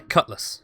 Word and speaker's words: Cutlass: then we got there Cutlass which is spelt with an a but said than a you effectively yeah Cutlass yeah well it's the vowel is shortened such that it's essentially not there just Cutlass yeah then we've got